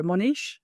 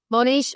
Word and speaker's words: Mohnish: Mohnish, is that right? Yeah, Mohnish. People say Mohnish. I say Mohnish. Mohnish. Okay. Yeah, but Mohnish. I think both are fine.